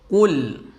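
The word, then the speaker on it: قُلْ: Jangan sampai kita mengucapkannya Qul dengan huruf kaf.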